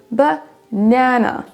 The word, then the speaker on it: banana: Pour le mot suivant, on n'a pas banana avec une accentuation similaire sur les 3 syllabes, mais banana. Banana. C'est la deuxième syllabe qui est plus accentuée que les autres. C'est la même chose pour happy.